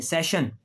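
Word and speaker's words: session: अब वो कह रहा है कि एस के बाद अगर आई ओ एन आ जाए आई ओ एन आ जाए या फिर आई ए आ जाए क्या आ जाए आई ए तो फिर भी शीन की आवाज आती है कैसे ये देखें सेशन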